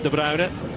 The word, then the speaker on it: De Bruyne: Like a bit of a slip on the part of De Bruyne, the Belgian. That is the pronunciation, by the way. Possibly heard it pronounced a few different ways.